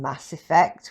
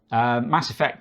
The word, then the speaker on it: Mass Effect: played fall oh yeah Mass Effect oh yeah good stuff yeah sorry cuz I always put the emphasis on the wrong word it's Mass Effect isn't it ah Mass Effect Mass Effect that's it